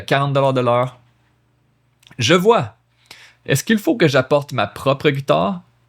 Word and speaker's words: Est-ce qu'il faut: Est-ce qu'il faut? Look at that. Est-ce qu'il faut? 4 syllables. Est-ce qu'il faut? 3 syllables.